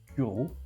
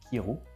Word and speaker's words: Kyrö: D'ailleurs, je crois que ça se prononce Ciro et non Kiro.